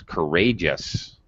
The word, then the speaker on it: courageous: courageous yes uh okay there's an exception i don't really i don't say gs spontaneous courage yes no courageous all right it's there but you don't really hear it that's that's a trick that's a drop syllable